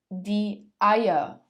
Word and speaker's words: Eier: Das Ei, die Eier, das Ei, die Eier.